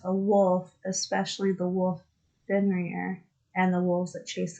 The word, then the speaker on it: Fenrir: Fenrir?